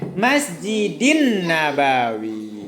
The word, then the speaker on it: Masjid Nabawi: Kita bacanya Masjidin Nabawi. Masjidin karena itu dalam bahasa Arab dia nyambung ya.